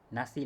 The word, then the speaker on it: nasi: have computer, mahal, laptop, nasi lemak. Okay, so for the word nasi, okay, so it's spelled without a K, but normally when speaking, we say it with a K at the end. Nasi lemak.